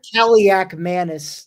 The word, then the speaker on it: Kaliakmanis: How is it pronounced again? Kaliakmanis.